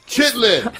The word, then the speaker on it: chitterlings: They're making chitterlings. Chitlins. See? Chitterlings. That's not the way it's spelled on the package.